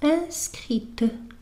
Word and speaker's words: inscrite: لكن بالنسبة لهذا الفعل يتغير النطق. إذن بالنسبة للمذكر نقول inscrit، بالنسبة للمؤنث inscrite.